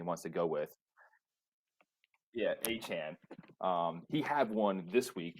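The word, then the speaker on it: Achane: There was Devon Achan. I think that's the new pronunciation he wants to go with. Yeah, Achan.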